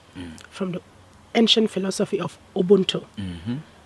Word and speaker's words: Ubuntu: It stems from Africa, from the ancient philosophy of Ubuntu.